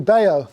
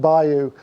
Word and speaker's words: bayou: i've been saying blue bao it's actually blue bio i've been i've been corrected by someone from america it's spelt bayou but it's pronounced by you uh makes perfect sense